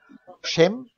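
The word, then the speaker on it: שֵׁם: Schem, spricht man das dann aus mit der E-Vokalisierung.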